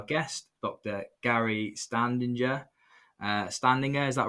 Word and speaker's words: Standinger: uh standing there.